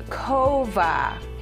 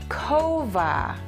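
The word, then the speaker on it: כובע: how much he loves his hat this is kova kova is hat cat kova and here's a lovely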